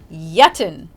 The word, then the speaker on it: yitten: Next up is Yitten. That's spelled Yitten. Okay, it sounds similar to the past participle of eat, that's eaten.